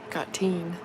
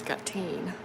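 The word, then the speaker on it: gatín: like little name collar got teen it's just g a t i n but like the I is emphasized so it's got teen but if you know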